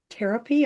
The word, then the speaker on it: Tarotpy: So today, I have as my guest Lauren Schneider, and Lauren is the author of this book, Tarotpy.